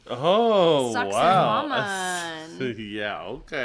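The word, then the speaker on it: Sacsayhuamán: So, my first example is, and it's pronounced suioman. Oh, sucks woman.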